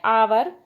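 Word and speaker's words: hour: circle करेंगे तो बच्चों फर्स्ट है अवर अवर में साइलेंट है ह तो बच्चों यहां पर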